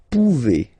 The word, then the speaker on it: pouvez: Then vous pouvez, okay? Classic ending as well for the vous form. A Z like that, okay? Remember you pronounce it e, okay?